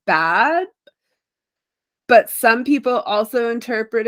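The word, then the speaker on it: Badb: like often given to I think it's pronounced bad it's like b-a-d-b so it's like one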